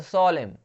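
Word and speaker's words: solemn: और सोलेम, सोलेम मतलब होता है गंभीर, ठीक है, तो सोलेम, यहाँ पे एन साइलेंट है।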